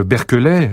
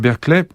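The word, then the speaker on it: Berkeley: a un évêque George je prononce à la française hein George berkelet c'est tellement différent en anglais qu'on comprendrait pas George berky qui va écrire un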